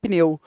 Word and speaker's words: pneu: é pneu não tá é pneu de fato é estranho a pronúncia é feia mas é a correta tá bom pneu um só impulso de voz então são as vogais